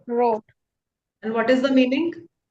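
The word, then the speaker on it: rot: R T is it is pronounced road. Road.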